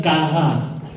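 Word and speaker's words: קרא: Le mot utilisé dans l'hébreu, c'est kara. Kara. Kara. Q-A-R-A. Mais ça se lit K. Ça s'écrit K-A-W-R-A-W. Kara. Kara.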